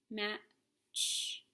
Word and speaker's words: match: w-h says three match we have a silent t in the middle m a ch match tch says wrong there's